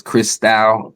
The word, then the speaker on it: Christou: Y'all have been saying my name wrong. It's Chris Style.